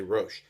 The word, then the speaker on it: rosh: or a lot of the boxes just say rosh as you're putting it on you're saying the second blessing proper hebrew pronunciation that is a blessing simply saying thank